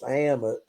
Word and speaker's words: Ammit: falling under the spell of this egyptian god pronounced ammit uh who's going to be played by sophia